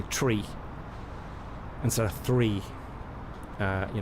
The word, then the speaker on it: three: two three right uh in proper aviation speak you say tree like true corkman from ireland tree so i'd say uh echo one two three that's the right way to say it uh which sounds very